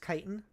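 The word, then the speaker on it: chitin: Chitten is pronounced kitan.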